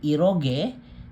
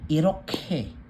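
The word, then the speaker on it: 이렇게: So ang basa dito hindi iroge kundi iroke.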